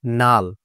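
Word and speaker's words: null: example দিয়ে দেখে নেই যেমন এন ইউ ডাবল এল এখানে কি হবে নাল ঠিক আছে নাল এন এন U double L নাল কেন হলো বলুন তো কারণ এল একটা হচ্ছে কি কনসোনেন্ট লেটার তারপরে ইউ রয়েছে তারপর কি রয়েছে এল এল ও একটা কি কনসোনেন্ট লেটার তাহলে দুইটা কনসোনেন্ট লেটার মধ্যবর্তী স্থানে যখন ইউ থাকবে তখন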